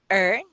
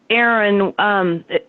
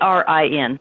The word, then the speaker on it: Erin: Is it Ern? Erin? Ern. It's Aaron. When my husband set the computer up a long time ago, he misspelled my name. Anyway, it's Erin.